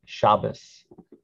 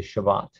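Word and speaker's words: שבת: that's a sight word often pronounced shabbos when we're speaking modern hebrew we say shabbat shami yerushalayim yerushalayim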